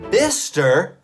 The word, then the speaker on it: Bicester: there's going to be one bista bister really bister why said the ce more letters that are